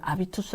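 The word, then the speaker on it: habitus: 에서 나왔을 수도 있는데요 자 프랑스어는 h 가 묵음 이에요 이러다 보니까 이거는 아비투스 라고 읽어야 됩니다 알이 초소 그래서 해리포터가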